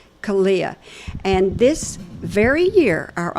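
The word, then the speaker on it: CALEA: Kalia. Kalia.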